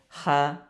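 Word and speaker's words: ح: আচ্ছা, তো এই যে হাটা মূলত এই যে এখান থেকে কণ্ঠনালীর মাঝখান থেকে উচ্চারিত হবে, 2 নম্বর মাখরাজ। কণ্ঠনালীর মাঝখান থেকে উচ্চারিত হয় হা।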